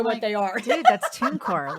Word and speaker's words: TuneCore: Pronounce this for me, Suze. Is it TuneCore? TuneCore.